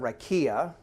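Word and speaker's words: raqia: tool, you find out it's the Hebrew word rakia. We usually spell it R-A-Q-I-A.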